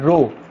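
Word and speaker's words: rho: ये सिंबल क्या है, रो, दिस इज नॉट पी, इसका स्पेलिंग होता है आर एच, रो।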